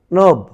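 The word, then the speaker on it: knob: অতঃপর নব, নব, নব। এবার রয়েছে নক, নক, নক। এরপর রয়েছে নাখল, নাখল, নাখল। তাহলে এখানে দেখলে এন এর পূর্বে, প্রতিটি এন এর পূর্বে কে ছিল, কিন্তু তার উচ্চারণ হয়নি।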